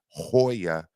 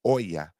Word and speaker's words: Hoya: taught me it's not Hoya it's Oya you don't pronounce the h at the be in